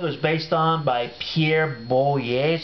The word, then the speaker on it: Boulle: the book it was based on by Pierre boier is how you pronounce that um and of course you know